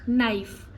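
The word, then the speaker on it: knife: लेट me tell you when के is there और उसके बाद के के बाद एन आता है और एन के बाद कोई भी वाउल साउंड आता है कोई भी वाउल लेटर आता है तब हम के को साइलेंट करते हैं जैसे नाइफ नॉलेज नी इसमें क्या है के आ रहा है उसके बाद एन आ रहा है एंड जस्ट उसके बाद क्या आ रहा है एक वाउल साउंड आ रहा है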